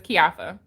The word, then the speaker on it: Keioffa: your name thank you i couldn't pronounce it oh it's kiafa oh wait a minute